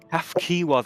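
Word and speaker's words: Cahciua: Me, Geod, and Kafkiwa. Kafkiwa, that's how you say it.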